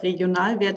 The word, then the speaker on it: Regionalwert: So today I want to present you the concept and idea of Regionalwert AG Freiburg, this is how it's pronounced, and also give you a little heads up on our method of extended financial accounting for sustainable agricultural systems.